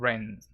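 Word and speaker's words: Rennes: chelsea sevilla krasnodar and ren reigns ren i suppose it's reigns you don't pronounce the s really do no chance severe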